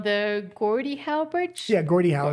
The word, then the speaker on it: Gordie Howe: Yeah, Gordie Howe is how you say it.